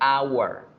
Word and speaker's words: hour: palabra hora yo digo hour, hour. Igual que en español, la H no suena en la palabra hora. Entonces yo no puedo decir a hour. No suena bien.